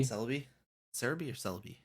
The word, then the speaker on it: Celebi: Cerebi? Celebi? Cerebi or Celebi? Well, Cerebi, if you look at, because the website is Cerebi, right? Because I guess that's the Japanese way of pronouncing it.